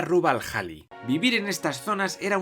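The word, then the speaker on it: Rub' al Khali: norte y el de rubalcaba al sur pequeña corrección se pronuncia rubal halle vivir en estas zonas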